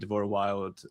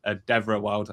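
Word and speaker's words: Devora Wilde: from Expedition, making it so Ben Starr and Deborah Wild, Devra Wild, I was saying her name wrong.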